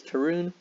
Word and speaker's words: Tyrone: mc my name is tyrone and i'll be your lead instructor today you can refer to me as tyrone pronounced like maroon but with a t let's jump right into